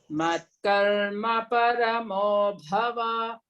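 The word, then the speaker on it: मत्कर्मपरमो भव: That bhava is short vowel, no? Vakara. So you should say Matkarma paramo bhava. Karma paramo bhava.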